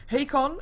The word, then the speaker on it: Hakon: We're going to be seeing Hakon. I have recently learned that's how you pronounce his name.